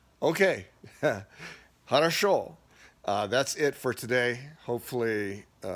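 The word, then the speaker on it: хорошо: It's harasho. Okay, harasho.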